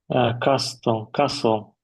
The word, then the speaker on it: castle: Castle. Mm-hmm. Listen. Silent letter T.